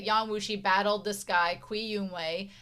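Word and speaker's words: Cui Youwang: The C has a different What is the the C in Mandarin? How does it sound in English? Okay. Uh, it's Oh, like hats or bits or cats.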